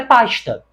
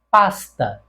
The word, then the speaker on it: pasta: pela minha fala então a pronúncia desta palavra aqui no Rio de Janeiro é pasta mas em outros lugares em outros estados como por exemplo em Minas Gerais em São Paulo a pronúncia deste S tende a ser puxado para o próprio S pasta pasta então nós ficamos com